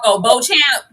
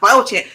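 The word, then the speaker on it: Beauchamp: I'm the the way it's spelled throws me off. So I have to check my brain every single time. Bo Champ.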